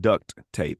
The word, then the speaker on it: duct: literally would call it duct tape. He would pronounce the T at the end of D-U-C-T, duct tape.